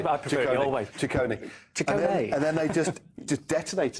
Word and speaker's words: Ciccone: Ciccone.